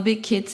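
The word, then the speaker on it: Big Qid: So we've come to our final question from Big Quid. Am I pronouncing that right? Natives here. It's not really quid, because quid would be like QUID. Is it big and kid? it's QID. Big kid.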